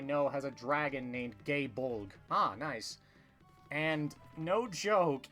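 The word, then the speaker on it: Gáe Bolg: more modern Fate stuff, they made sure to pronounce gay bulg as gay bulg so people can avoid making the many the many homosexual phallic jokes out of it.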